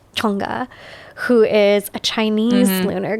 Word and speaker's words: Chang'e: Okay, so one of my favorites is, I'm going to make sure I pronounce this correctly because my tongue has to be in the right part. Chang'e. It has to be up here. Chang'e, who is a Chinese lunar goddess.